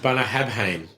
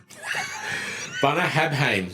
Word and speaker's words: Bunnahabhain: and it's if I was to read it phonetically, did that come out? Bunnahabhain. Bunnahabhain.